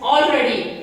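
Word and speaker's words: already: ఇక్కడ మనం దాదాపు చాలా మంది ఎలా పలుకుతారంటే ఆల్రెడీ అంటారు, కానీ ఎల్ ఇక్కడ సైలెంట్.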